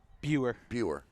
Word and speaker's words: Boer: Eva Tyler and Kayla Boer. How do you say that? Buer.